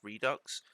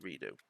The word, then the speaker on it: redux: I think it's meant to be pronounced redux. I've always pronounced it redo.